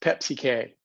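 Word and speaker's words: PEPCK: e p c k often pronounced pepsi k are you pepsi fans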